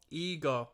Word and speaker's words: Igor: this R around they ego sorry I mispronounced it initially with IO ego I've never known anybody named ego you know